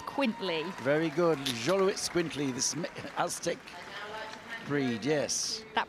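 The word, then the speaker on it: Xoloitzcuintli: we have the Jolo it's quintly very good Jolo it's quintly this Astic breed yes that pronunciation could have gone either way Frank I'm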